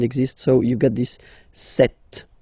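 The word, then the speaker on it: sept: all right then here remember B is not pronounced okay doesn't exist so you got this set sound set set okay then here final T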